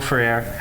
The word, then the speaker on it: Ferrer: Ferrer? Yes, thank you, Miguel Ferrer, who has been in so many things, was a truly brilliant actor.